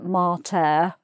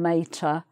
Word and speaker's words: mater: Although if you're studying Latin, you might pronounce it mater rather than mater.